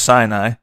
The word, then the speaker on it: Sinai: Another 40 years were spent in the Sinai, pronounced Sinai, desert as a shepherd.